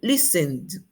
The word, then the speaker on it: listened: Al formar el pasado con id, esta terminación id se va a pronunciar como D, D. Ejemplo, listened, listened, listened en pasado.